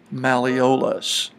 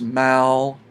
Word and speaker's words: malleolus: known as the medial malleolus. Check to see if you can spell it by pronouncing it properly. If you say malleolus, there it is, mal-e-o-lus.